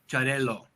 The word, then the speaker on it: Xarel-lo: And so it does force you to realize that it's a harder L, Xarel-lo, versus right.